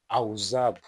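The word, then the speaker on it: עזב: And in the Hebrew that he used, that word, it is azab, and the pronunciation is auzab, auzab.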